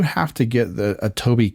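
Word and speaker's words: Tobii: So, they say it it uses a program, I I want to pronounce this right, Toby uh Tob T O B I and it looks really interesting.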